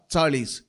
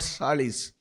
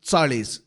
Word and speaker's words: चाळीस: Please remember, the pronunciation for 40 is चाळीस, not salis. It is चाळीस, TS, the sound that is produced by the combination of T and S, चाळीस.